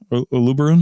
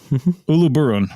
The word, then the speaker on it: Uluburun: at UB ubu how do you say that uberon uluburun yeah uluburun uluburun right I got to get that right uluburun